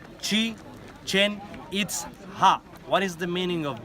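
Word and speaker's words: Chichen Itza: this is the mean this is the correct pronunciation sheet change its up right now chichen-itza it is part of the Mayan language you know that word is in mine chi-chan it's ha what is the meaning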